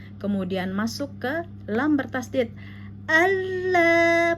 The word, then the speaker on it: Allah: Allah, pastikan mulut terbuka, rahang atas rahang bawah tarik ke samping. Allah ya, 2 harokat karena ada alif lam ya.